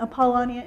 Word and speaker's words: Apollonia: And this great woman, Apollonia, in fact, it was Sandy who taught me how to say her name correctly.